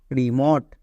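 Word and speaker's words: remote: ভট একই এরকম ভাবে আর ই রি এম ও টি ই মট রিমট পি আর ও প্রো এম ও টি ই মট প্রমোট ও টি ই পেলেই ওট এবার দেখে নেব শব্দের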